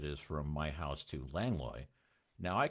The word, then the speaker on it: Langlois: some people go, no, it's Langlois, and I'm like, yeah, my ass it is. No, it's Lang Lewis. Okay, it's Lang Lewis. But anyway, yeah, and it was actually named for somebody who doesn't pronounce it Langlois.